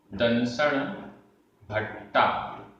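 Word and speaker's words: दंसण भट्ठा: उच्चारण करते हैं, दंसण भट्टा, आधा टा पूरा टा बढ़िया की मात्रा, दंसण भट्टा भट्टा, दंसण भट्टस, दंसण भट्टस णत्थि णत्थि, निप्पाणम निब्बाणम।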